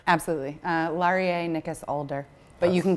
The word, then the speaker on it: Laurier Nicas Alder: I don't want to get wrong absolutely uh laer ncas aler but you can call me because that's so many fewer syllables thank you for saying that cuz I